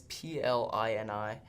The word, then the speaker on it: Plini: They're this like progressive like rock kind of band, but they go by the name Pliny, I think that's how you say it. It's Plini, but their stuff's crazy.